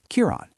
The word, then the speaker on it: Kiron: You need to pronounce it by emphasizing the first syllable and saying the rest more softly." After hearing him, she repeated his name once more. "Kiron, you still need to practice more.